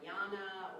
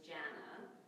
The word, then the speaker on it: Janna: if you know me and you say Janna or Jana or Jenna I might not mind it if you say it once or twice but if you know me and you consistently get my name wrong even after I told you my name is Janna and you say J